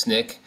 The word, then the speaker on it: SNCC: student nonviolent coordinating committee referred to by the acronym snick sncc pronounced snick it was an interracial